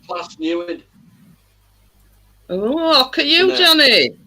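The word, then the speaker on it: Plas Newydd: It's pronounced Plas Newid.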